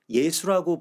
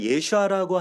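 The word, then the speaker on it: Yeshua: 있는 예슈아의 그 이름을 예수라고 불렀던이 라틴 헬라식 발음대로 그대로 우리가 이걸 부르고 있다라고 하는 것에 대해서 다시 한번 생각해야 됩니다 우리가 예슈아라고 하는 이름 대신 예수라고 하는 부정확한 이름을 쓰게 된 배경에는 뭐 몇몇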